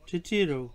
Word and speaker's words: titiro: Titiro, to look at, inspect, examine, observe, view.